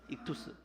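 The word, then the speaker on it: ΙΧΘΥΣ: 라는 다네요 이투스 라 그랬다는 이투스 이 쥬스 라고 읽어요 시그마 자네 시그마 s 익투스 그래서 요 타석 글자 물고기 라는 표시를 딱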